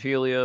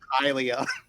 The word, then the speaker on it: Hylia: Just blessings of Helia upon you, and then give him a pat on the shoulder and leave. Also, am I pronouncing that right? It's very important I pronounce that right. It's Hylia.